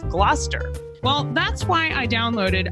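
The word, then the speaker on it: Gloucester: Like originally, I said glalcaster instead of Glouester.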